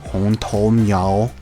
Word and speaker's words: Hong Tou Miao: For Hmong Lang in Mandarin, the way I'm hearing it is it's Hong Tou Miao.